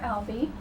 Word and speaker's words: Albee: referred to as Mr Alby and wondered why you don't choose Dr Alby is it a conscious choice and if so why well let's let's say the proper pronunciation is Ali not Al anything I don't care what